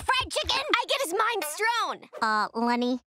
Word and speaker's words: minestrone: I get his minestrone. Lenny, it's pronounced minestrone. I call it minestrone because it's mine.